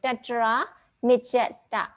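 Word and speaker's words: tatramajjhattatā: So tatra mijeta. Okay, that's the correct pronunciation and correct way of dissetting or dividing words.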